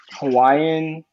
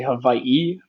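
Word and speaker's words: Hawaiʻi: kind of pronounce it Hawaiian in that in the Hawaiian language the W's are kind of pronounced like V's um and then the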